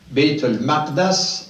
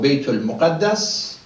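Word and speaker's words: بيت المقدس: Masjid al-Haram in Mecca, Masjid al-Aqsa in Jerusalem, Bayt al-Maqdas or Bayt al-Muqaddas. It's pronounced both ways.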